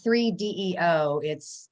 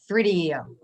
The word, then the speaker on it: 3DEO: again how to pronounce, it's not 3DEO, you have to say it all at one time. 3DEO.